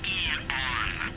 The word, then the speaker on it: Aeon: With the state of the world today, the Aeon program is E-on. I'm sorry? It's pronounced E-on. Eon for Eagle.